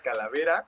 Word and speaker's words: Calaverx: Pues mira, la X se supone que se tiene que pronunciar como A, es Calavera, así.